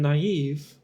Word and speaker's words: naive: again so yeah um but in naive uh it like the vowels are are pronounced separately even though they're next to each other um so I wonder